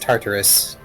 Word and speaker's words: Tartarus: And Wolf Mage, it is pronounced Tartarus.